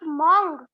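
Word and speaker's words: mangue: And we will pronounce mango like mong.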